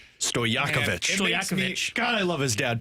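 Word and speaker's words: Stojaković: Uh, Stokovich, who you mentioned, can do it. Uh, what did you call him? Stokich, I knew that was wrong. Don't you dare mispronounce his name. Stoyakovichakovich.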